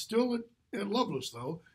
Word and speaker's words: Lovelace: Lovelace and by the way that's how you pronounce that name not Lovelace it's love less why literally historically that's how that name is